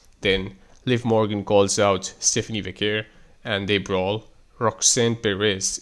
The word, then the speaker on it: Stephanie Vaquer: It's Stephanie Vaquer.